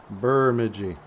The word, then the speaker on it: Bemidji: because it's so cold they call Bemidji burmidji I saw there was a uh a video or something I didn't bother to watch it but the title was how to pronounce Bemidji and I wonder what they what they decided because there's a lot of locals who call this place Bemidji I'm going to bemidj I I'm